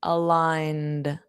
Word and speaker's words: aligned: And notice that pronunciation, aligned. The d soft d, aligned.